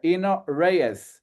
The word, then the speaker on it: Eno Reyes: from our guest, and Eno Reyes, if that's how you pronounce it.